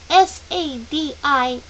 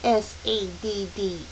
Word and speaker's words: sadist: "That's sadist, not saddest, you know." Charles Wallace said, and giggled again. Lots of people don't pronounce it correctly.